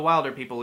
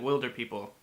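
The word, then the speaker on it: Wilderpeople: the will do people everyone's going in hunt for the wilder people even though in the movie they pronounce it will der people this is one of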